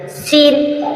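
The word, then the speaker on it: scene: Saint Saint means गं सीन सीन means दृश्य एस के बाद सी आया इसी प्रकार साइंस साइंस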